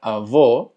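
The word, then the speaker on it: avô: Y avó tiene el acento circunflexo, lo que hace que la pronunciación sea cerrada.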